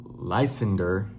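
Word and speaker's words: Lysander: I don't I feel I feel like I'm pronouncing his name wrong, but it's L Y S A N D E R. I just that's just how I read it. Lender, you know what I'm saying?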